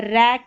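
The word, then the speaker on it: wreck: यह है रैक क्योंकि यहां पर डब्ल्यू साइलेंट है तो रैक ये पैक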